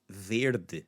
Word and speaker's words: verde: Verde. Same thing. Verde. Tarde. Verde. The. So the E is the focus there on the sound, but see what it does.